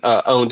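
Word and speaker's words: pwned: one is the um have I been owned less or poned is how it's pronounced um Troy hunt began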